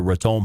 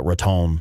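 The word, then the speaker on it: Raton: Ron pass there uh I don't know how to say it properly uh ratton I think is how the locals say it um yeah Red Dot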